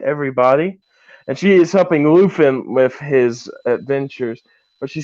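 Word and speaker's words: Luthen: you pronounce it uh luffin luffin yeah it's yeah it sounds like there's an F in there but it's a th luffin yeah but yeah he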